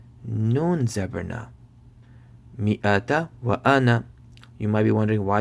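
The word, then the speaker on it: أنا: It's just that this word right here, whenever you see it in the Quran, the alif tends to be silent, right? So you'll be spelling like this: hamza zabar a, noon zabar na, ana.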